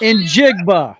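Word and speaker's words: Njigba: and jigu wide receiver in jiga there it is we have a pronunciation in jig we got a wide receiver neither one of them are silent and hey look at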